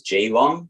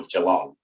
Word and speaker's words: Geelong: the town i live is the name is jilong or geelong so being australian and we'll probably get into